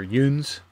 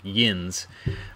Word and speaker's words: yuns: Around here, in the book, I don't spell it Y-I-N-Z the way that you know, people typically in the Pittsburgh area, they think of like yins. Around here, which I'm in more of north or midwestern Pennsylvania, they tend to pronounce it yuns. So like Y-O-U-N-S, yuns.